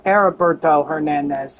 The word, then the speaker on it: Heriberto Hernandez: Or Heriberto Hernandez, I believe, because I don't think they pronounce the H.